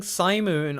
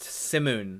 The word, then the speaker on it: Simoon: of the wind apparently the god we've been calling Sai moon all this time is actually pronounced simoon that's gonna be hard